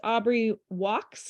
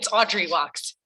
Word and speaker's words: Audrey Walks: And so we have our guest Aubrey Walks. Is that how you say it, Aubrey? It's Audrey Walks. Yeah. Audrey Walks. Oh, sorry. I put a B in there instead of a D.